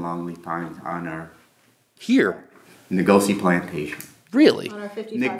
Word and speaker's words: Nokuse: Ngozi plantation.